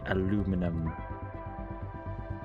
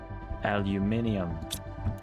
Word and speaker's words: aluminium: That can be aluminum. Aluminium depending on where you're from and how you say it. But I think aluminium is more fun. cuz why would you not say it like that?